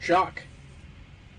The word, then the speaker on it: Jacques: Jacques. It's French. I don't want to like butcher that. It's Jacques. You know, like Jacques. you. Okay, Jacques. I am Jacques. Jacques or like Listen, Jacques is, you like, learned French.